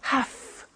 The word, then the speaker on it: have to: I have to notice I don't say V I say F have half it becomes half however two becomes in